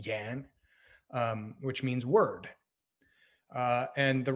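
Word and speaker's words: 言: And in this case, it's a word pronounced yan, which means word.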